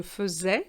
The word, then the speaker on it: faisais: And here I do say je faisais because an S between two vowels gives you a Z sound.